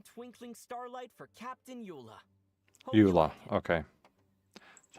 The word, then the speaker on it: Eula: Eula. Okay. That's how you pronounce her name.